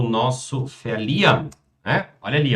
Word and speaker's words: verlieren: Verlieren. Lösung. So hast du eine Chance, den anderen nicht ganz zu verlieren. Verlieren, agora ela pronunciou esse R aqui de fato, né?